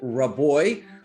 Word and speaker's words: Rabois: to have with me is my guest keith roboy who's a general partner at the founders fund keith did i get that pronunciation right that sounds great well welcome to